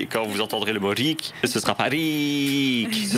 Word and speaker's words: rik: Par exemple, une voyelle longue se retrouve dans le mot riche. Rik. En rik person. Yeah. Et une voyelle courte se retrouve dans le mot risk.